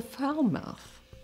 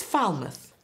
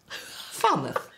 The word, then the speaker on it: Falmouth: it's pronounced as the foul mouth University it's not foul mouth it's Falmouth Falmouth f a l m